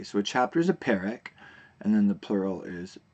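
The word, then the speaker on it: פרק: A chapter is a perek, and you'll notice here that I didn't say perek. In Hebrew, if you have the double eh sound, like in perek, then the accent is actually on the first syllable.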